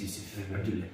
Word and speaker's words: Yusuf: My name is, in Somali, you pronounce my name Yusuf.